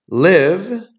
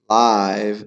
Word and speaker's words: live: Live sounds like give, right? To exist. Live sounds like dive, means in person, right?